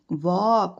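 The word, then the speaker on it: walk: L silent है। एल का sound नहीं आ रहा है। वॉक।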